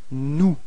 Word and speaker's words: nous: And then first person of the plural, it's nous. Repeat. Nous. Okay. So you've got this final S, but you don't pronounce it.